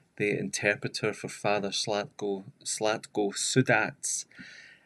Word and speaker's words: Sudac: interpreter for Father Slatko Sudats. It's Sudak when you look at it, Sudac, but she has told me it's Sudats with the Croatian pronunciation.